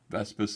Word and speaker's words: Vespis: Yes, that is actually Vespis leftist. It rhymes, doesn't it?